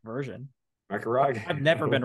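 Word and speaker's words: Macragge: We get a lot of shit for mispronouncing things, apparently. Apparently you say McCrag incorrectly.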